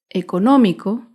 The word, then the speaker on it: económico: Económico se acentúa en la antepenúltima sílaba.